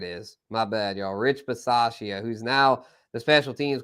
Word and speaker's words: Bisaccia: Okay, Versace. Rich Versace. I don't know how to say it, but he was their special teams coach. The dude, Rich, from the Raiders, the special teams coach. And Bisaccia, Rich Bisaccia.